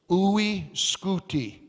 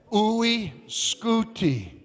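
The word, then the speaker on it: UY Scuti: got a crazy name you'll love you'll love pronouncing the name of the biggest star in the known universe oui scooti say it with me ooi scooty you say how big is is ooy scooty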